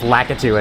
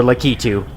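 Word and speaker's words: Lakitu: I pronounced it litu for a time, but lacatu is apparently the more correct pronunciation, so I've been switching to that as of late.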